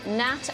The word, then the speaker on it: gnat: Billy, in language, which letter is silent in the words gnarled, gnat and gnome? G. Correct.